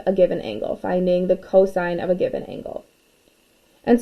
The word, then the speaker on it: cosine: hypotenuse and so now cosine is abbreviated as cos again still pronounced cosine of theta is equal